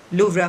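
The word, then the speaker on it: Louvre: Ceremonial dinner eight iconic लूवरा museum on July 14। अब लूवरा museum, लूवरा या लूवरे कहा जाता है, उसमें इसमें प्रोनाउंसिएशन फ्रेंच में कुछ और है, लेकिन इंग्लिश में आप लूवरा म्यूजियम कहेंगे इसको।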